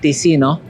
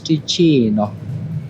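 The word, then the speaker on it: Ticino: We were earlier calling it Tino, but the right way to say it is Tino.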